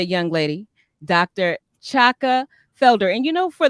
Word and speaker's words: Chaka: I am named after Shaka Khan but Shaka Khan it's not shakan it's Chaka it listen we learn